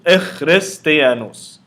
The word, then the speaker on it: Echristianos: The jenkim is giving any word a short E sound. It creates a separate syllable. So like we learned in our Coptic word competition, we had the word Echristianos. Echristianos. So that gives the letter ki an E sound, an sound. Creates a separate syllable. Echristianos.